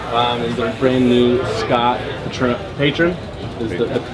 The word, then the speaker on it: Patron: And the brand new Scott Patron. Is the correct pronunciation.